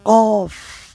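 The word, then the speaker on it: ق: রইন আইন গাইন ফা কফ কফ কফটা উচ্চারণ করতে হবে একটু সঠিকভাবে এটার ক্ষেত্রে অনেক সময় আমরা কাফ বলে ফেলি। কাফ বললে কিন্তু ভুল হবে। কফ কফ আর কাফ হচ্ছে কাফ। দুইটা দুই উচ্চারণ।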